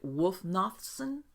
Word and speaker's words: Wulfnothsson: your last name correctly is it wolf nothing yes is that correct all right yeah okay